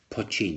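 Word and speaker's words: poitín: may not know what poin that's how you pronounce that p i t i n pin is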